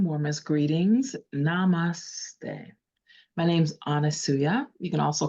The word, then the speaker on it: Anusuya: Anusuya is an amazing woman, profound priestess of the